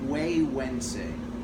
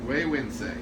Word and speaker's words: Güegüense: It's called Güegüense. Güegüense. Very good. Or the wise man. That is a Nahuatl word which is indigenous to Nicaragua, so it's Okay. not even Spanish.